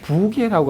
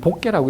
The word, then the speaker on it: 부계: 그런데 부계라고 할 때는 복계라고 읽으면 안 되는데 이걸 읽는 사람이 처음에 부라는 발음은 몰랐어요.